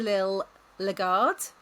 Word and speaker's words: Lil Legard: Liil Lagard. Am I pronounced that correctly?